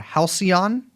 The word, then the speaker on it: halcyon: But do you remember the I don't know how to pronounce this word, halcyon? Am I doing that right? Mm-hmm. Young Chomsky gave it a snort, but I was right.